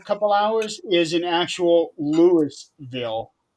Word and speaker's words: Louisville: they you would think Louisville. Louisville, but it's actually they over there they pronounce it as Lewisville.